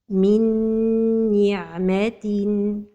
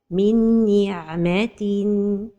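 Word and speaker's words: من نعمة: The mistake is to pronounce the idgham without a time for the ghunnah. Min ni'matin. And the right pronunciation is to give time to the ghunnah. Minni. So the right pronunciation is min ni'matin.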